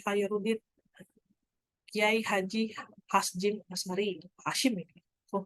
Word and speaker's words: Hasjim: Mahaputra Yamin, Tuku Umar, Laode Hairudin, Kiai Haji Hasjim Asmari, Hashim ini. Oh, bacanya Hasjim saya.